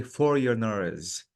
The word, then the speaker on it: foreigners: This word, Jamila, the G is silent. So I have to say foreigners.